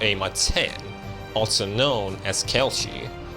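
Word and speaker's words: Kal'tsit: That specific time was left up to Ama 10, also known as Kelchi. She would roam the land. Okay, that's how you pronounce it. Kelshi. I was like, "Cal's kid."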